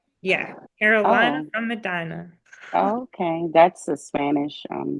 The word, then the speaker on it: Medina: my company is called Madina media Productions you pronounce it Medina yeah Carolina from Medina okay that's a Spanish um last name Medina